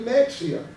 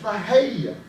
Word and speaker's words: Mexia: a and I said look we're coming into Mexia and my my buddy said it ain't Mexia it's pronounced Maha I said you got I said Dy is